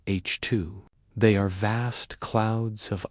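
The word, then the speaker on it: HII: These bright glowing regions are known as H2 regions, pronounced H2.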